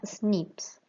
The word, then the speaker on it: SNP: Se abrevian como SNP y la pronunciación de estas siglas en inglés suena SNPs.